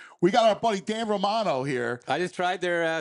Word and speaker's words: Romano: Well, I think you'd probably rather just everyone stay with Romano, but It should be Romano. That's how you say it. Romano.